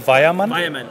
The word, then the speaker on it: Weyermann: Okay, and before we go, got to quickly ask you, pronunciation. Say it in the correct accent. my name, and Weyermann.